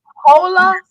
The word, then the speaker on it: hola: Oh, so the H is silent. Yes, it's silent.